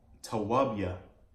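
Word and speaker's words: טוביה: And so Tobit is really in the Hebrew pronounced Tawabia, okay, Tawabia, which I have written here in the Hebrew, if you can see that.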